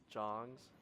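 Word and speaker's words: Dzong: They're called Jongs, which is spelled D Z O N G.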